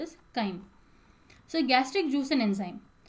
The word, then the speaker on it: chyme: formed into semi-liquid chyme it's also called as chime but mostly it is pronounced as chyme so gastric juice and enzyme hcl provides acidic